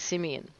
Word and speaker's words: Simion: and I was wondering whether there was a completely different pronunciation of that but it is Simeon yes Simeon well that's